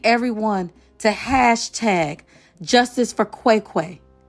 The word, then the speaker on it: Cwecwe: And I need everyone to hashtag justice for Quiquay. Qui Quay is spelled CWE. CWE.